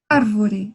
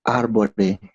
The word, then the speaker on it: árvore: árvore. A árvore. A árbore. Recordando que eu dije arriba que a V nunca se pode cambiar por la B. Então, va, ve, vi, vo, vu.